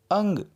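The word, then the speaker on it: ङ: कुछ लोग इसे न्या बोलते हैं, कुछ लोग अड़ा बोलते हैं. लेकिन मानक हिंदी में इसका उच्चारण परिवर्तन किया गया है, यानी कि इसे अंग. समझ में आया? अंग इस ध्वनि के नाम से बोलते हैं, लेकिन अब अड़ा भी बोलते हैं. आपकी मर्जी है, जैसे भी उच्चारण कीजिए.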